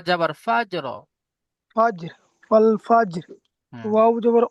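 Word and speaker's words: والفجر: ফাজর ওয়াল ফাজর হুম ওয়াও জবর ও লাম জবর লা ওলা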